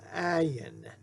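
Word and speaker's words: עין: Our next letter is an ayin, an ayin, ayin. Now that letter too is silent. Now it's silent, but it actually has a sound. But in Hebrew, we don't pronounce it much.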